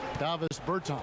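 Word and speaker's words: Dāvis Bertāns: Oh, well, now, at this point in my life, it's Davis Bertans. Is that how you say his name? Yeah. Davis Bertans. Davis Bertans?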